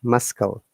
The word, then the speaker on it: muscle: Anyway, it's not muscle, it's muscle. But when it becomes muscular, that's a different case. Muscular. Muscular. This is muscle, but this one is muscular. Remember that.